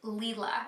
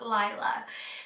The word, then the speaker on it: Lila: first seconds of her video, and it is pronounced Lila. It is not Lila.